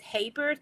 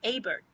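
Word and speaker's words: Hebert: So I called it Hbert. They said no, that's Hbert.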